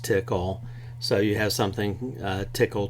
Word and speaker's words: Tcl: part of a language called TCL which is often pronounced tickle so you have something